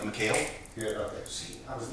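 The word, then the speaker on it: Michale: Correct, like McHale. Good, okay. See, I was listening. That's But I've always been called my whole life, so, but I always say phonetically it'd be like McHale.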